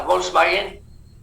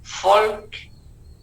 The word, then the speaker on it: Volkswagen: Y la B chica en alemán se pronuncia como si fuera F. Por eso, por eso se dice correctamente, ¿no? La Volkswagen, Volkswagen, la W como B chica. Volkswagen, que quiere decir Wagen, vagón, carro, auto.